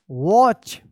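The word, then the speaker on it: watch: silent रहता है wrist वॉच डब्ल्यू ए टी सी एच वॉच यहां पर जो है ना टी साइलेंट है वॉच एंड अनदर ए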